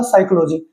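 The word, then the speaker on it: psychology: तो साइकोलॉजी में हमेशा स्टार्टिंग में आपका बिगिनिंग जो लेटर होता है वो पी होता है। लेकिन इसकी साउंड जो होती है वो एस से शुरू होती है। पी एस वाई सी एच ओ एल ओ जी वाई। तो यहां पे साइकोलॉजी में पी क्या रहेगा? साइलेंट रहेगा।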